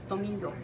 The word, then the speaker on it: tomillo: Tomillo. Spelt Tomillo, but here's your Spanish lesson of the day. Anytime there's two L's like that together, it sounds like ya, not lo. It's ya, like tomillo, like yo.